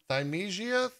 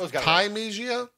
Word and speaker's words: Thymesia: It's Thymesia. I want to say it's like that because it's spelled like time with Sia on the end.